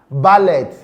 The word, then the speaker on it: ballet: We'll call it ballet. Ballet. But no, it is pronounced ballet. Ballet. Because the T in the word, or that sound, ta sound, is silent.